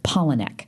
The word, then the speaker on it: Palahniuk: of was so or Palahniuk I'm saying it wrong Paula neck I was Dennis would Americans he said it's two words Paula and neck so it's Paula neck yeah um so Chuck